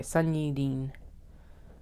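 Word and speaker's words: Sunyi Dean: a n Sun okay Sun Dean actually got the pronunciation right there biracial there we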